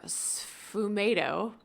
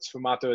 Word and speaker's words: sfumato: Any tips for sfumato with oil paints?